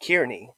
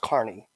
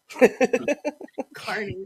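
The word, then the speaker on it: Kearney: e a r NE Y and people to pronounce it kiery right and phonetically that sounds right it's pronounced Carney Carney so yeah we have here um it's pron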